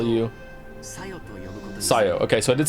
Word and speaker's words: Sayo: I'll follow it too, and from now on, I'll call you Sayo. Okay, so I did say it right. I heard him just say it. Sayo. Not Sayo, Sayo.